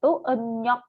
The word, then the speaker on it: 음력: tanggal 1, bulan 1, Emnyok, kalender bulan. Ini bacanya Emnyok ya, Ruben ya. R-nya dibacanya N. Emnyok.